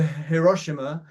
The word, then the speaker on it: Hiroshima: But my major joy, I think, is when we go to Hiroshima. I think that's the way. I think it's not Hiroshima, it's Hiroshima. I looked up how to